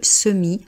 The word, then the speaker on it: semis: On ne dit pas le semis, on dit le semi. Donc on reprend notre règle. On ne prononce pas la dernière consonne d'un mot.